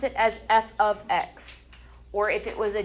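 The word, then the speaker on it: f(x): This special notation f parentheses x, we pronounce it as f ofx.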